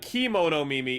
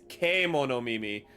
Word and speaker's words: Kemono Mimi: It's not Kimono Mimi, it's Kemono Mimi.